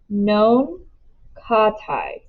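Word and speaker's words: nankhatai: with me uh what were they called again non-katais i say slowly known katai she says her pronunciation is almost perfect i think about what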